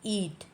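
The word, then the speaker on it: eat: अगला है ई एटी ईट ध्यान रख आई टी को आप इट प्रोनाउंस करते हैं और ई एटी को ईट यहां पर बड़ी ई है ईट का मतलब होता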